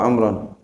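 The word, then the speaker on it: عمرًا: Ini kalau kata kita bacanya wa amrun aja nih. Padahal enggak, bacanya wa amran.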